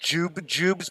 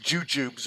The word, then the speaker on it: Jujubes: size of dots yeah I pronounce them like jub jubs but they're like JJs like j u j u b e s Jujubes but everyone says jubjubs